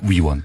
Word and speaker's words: 위원: 말씀해 주시면 좋겠습니다 예 발음을 정확하게 해주세요 의원 이 아니고요 위원입니다 위원 내가 저 말이 시가